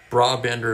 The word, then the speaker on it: Brabender: Brabender appears to be correct. Thank you, Thomas. So that's 3 votes for that. So I've been saying it wrong all this time.